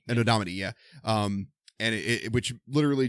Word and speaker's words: Anno Domini: Like AD is How do you pronounce it? Anno Domini? Anno Domini. Anno Domini, yeah.